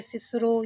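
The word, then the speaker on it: Cicero: रॉल्स्टन के सामने उसने कैसे अपने पुराने प्रोनाउंसिएशन को डिफेंड किया, ये भी हमने पढ़ा था बेटा, जिसमें उसने सिसरो यानी किकरो, वो कहता अगर आप किकरो कहेंगे तो मैं तो उसे सिसरो ही कहूँगा, क्योंकि रेस्ट ऑफ द लाइफ बच्चे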